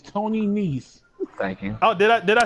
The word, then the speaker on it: Nese: Every time you say his name wrong, I'm gonna correct you. It's Tony Nese.